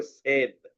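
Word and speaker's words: said: বললা এখানে বলছো সেইড আমি কিন্তু তোমাদের বলছি এটা সেইড না এই উচ্চারণটা আমাদের করতে হবে সেট সেট নট সেট ঠিক আছে আচ্ছা আমি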